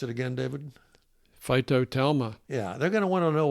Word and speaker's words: phytotelma: We have some very sophisticated listeners out there, and they're going to want to look up that term, which is, pronounce it again, David. Phytotelma.